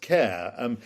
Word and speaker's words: Kerr: His surname, although it's spelled Kerr, Kerr, it's pronounced Kerr. He was Scottish, and anyway, he was the most unlikely choice to be sent to Moscow.